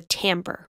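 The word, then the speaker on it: timbre: These upper harmonics affect the tone of the sound or the tambber. I know it doesn't look like it should be pronounced that way.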